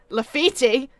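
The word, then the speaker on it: Laffite: Lafitte? Lefebvre. Nicholas! Nicholas! It's Lafitte. Lafitte. No, that's my time. That would be Italian. He's French. He's French, so they normally Oh. miss the last letter off the end.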